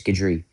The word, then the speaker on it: Gadri: I keep pronouncing it Gertie, but it's Gadri.